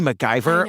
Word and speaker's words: MacIvor: names Mike and Missy mcgyver like what a great names yeah it's not spelled like MacGyver the guy but it's pronounced that way we open in the